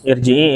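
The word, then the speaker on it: ارجعي: Irji'i ila rabbiki radiyatan mardiyah. Irji'i itu dibacanya tebal. Karena dia hamzah wasol.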